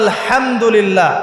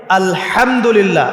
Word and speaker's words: আলহামদুলিল্লাহ: এইতো আপনি পড়ছেন আলহামদুলিল্লাহ। শব্দটা কি? আলহামদুলিল্লাহ। এই হা এর মাখরাজ কোথায়? হা এর মাখরাজ কোথায়? বলেন একজন কন্ঠনালীর মাঝখান থেকে এখান থেকে আপনি উচ্চারণ করছেন আলহামদুলিল্লাহি রাব্বিল আলামিন অর্থ